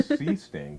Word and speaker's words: Seesting: So we tried to tell her Seesting, but she just couldn't quite get Seesting. So we said, Mom, it rhymes with bee sting.